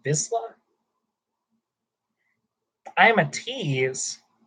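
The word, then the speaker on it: Vizsla: Is pronounced Visla.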